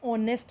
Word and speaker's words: honest: And same with this case, an honest man. H is silent here.